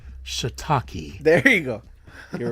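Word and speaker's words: shiitake: Ed well well Eddie it's not pronounced shitake it's pronounced shitaki there you go you're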